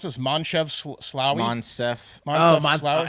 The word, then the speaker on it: Moncef: Monsef. Slaoui? I think it's Monsef, yeah, like West.